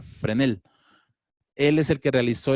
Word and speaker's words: Fresnel: una persona que semos agustín vásquez fresnel que realmente se pronuncia frene el él es el que